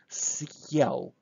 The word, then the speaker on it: съел: Now look, now my heart sign will give me opportunity to have kind of break in the middle of the word, съел, сел. So we pronounce it very quickly, very smoothly, and then съел.